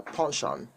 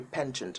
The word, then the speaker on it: penchant: a pension for something now punching is how british people call it now the american people say penchant i have a penchant for this i have a pension